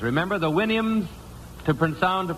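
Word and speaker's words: Houyhnhnms: mythical kingdom was the winnhams. Remember the winnhams to pround to pronounce supposed to pronounce it like you do a horse's winnie I think.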